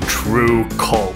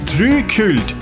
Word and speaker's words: TRVE KVLT: let's talk about being true cold yes it's spelled like that no i don't know why true cold or as we say in norway tree cult is a positive way